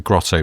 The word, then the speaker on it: grotto: said something about a grotto, but he's from Llanelli. So a grotto in a South Walian accent is two very distinct syllables.